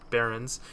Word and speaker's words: Barrens: Prowlers of the Barrens. Every time I say the Barrens, I always say it like Prowlers of the Barren. I always say Baron. I forget the S on the Barrens.